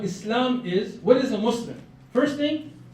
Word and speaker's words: Muslim: Because till today, every news outlet, Muslims, those Muslims, come on, man, just get this right. Muslim, it's not that hard. Muslim. 2 syllables, right? 2 syllables.